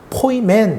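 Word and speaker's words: ποιμήν: 내 이렇게 발음합니다 포임 그리고 목자는 포임맨 이렇게 발음합니다 그러니까 여기이 목자 한무리가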